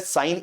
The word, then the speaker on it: sin: तो सिन नहीं बोलते हैं, बोलते हैं हम साइन ही है।